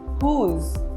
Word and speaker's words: whose: W is silent in some words. For example, whom, whose, whole.